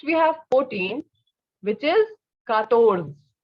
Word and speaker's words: quatorze: Next we have 14, which is quatorze.